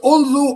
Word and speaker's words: although: Is it although or although? Although although the stress lies on the second syllable is it repair or repair repair the stress lies on the second syllable.